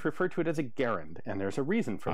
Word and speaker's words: Garand: Garand, Springfield, Massachusetts. And the section of the letter he has enclosed says, so, an initial G hard, as in go, first A short, as in Harry, second A somewhat more